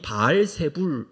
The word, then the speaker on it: 바알세불: 많이 있는데 신약에 와서이 바알세불 바알 세붑이라는 이것을 바알세불이라고 발음을 했습니다 신약성경에 여러 번 이것이